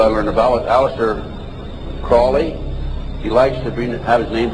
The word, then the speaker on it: Crowley: was an individual i were to vomit Aleister Crowley he likes to be named pronounced croley to rhyme with poli and the statements today